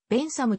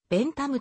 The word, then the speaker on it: ベンサム: に由来するため t と h をつなげて読まずにと発音する方が本来は正しいとされている